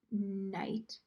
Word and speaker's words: knight: you say that word night it sounds like I would start with the letter n but actually it's like KN me and it's it so it starts with KN it has a silent K so this is night